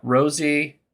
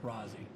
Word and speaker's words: Rozzi: It's pronounced It's pronounced Rosie, not Rozzy.